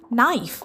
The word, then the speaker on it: knife: The next word we have is knife, spelled as K-N-I-F-E. But when we pronounce it, we get is N-I-F-E, knife.